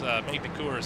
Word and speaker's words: Magny-Cours: There at a racetrack that I still can't pronounce in France, Magny-Cours, I believe is how you say it the English way.